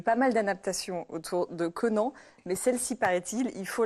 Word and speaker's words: Conan: Oui, j'étais en train de me dire, je ne l'ai pas prononcé correctement. On va dire comme tu dis. On dit Conan aujourd'hui.